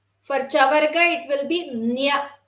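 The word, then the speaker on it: ञ: It is pronounced as NGA in English. Nga. For Chavarga, it will be Nya. NYA.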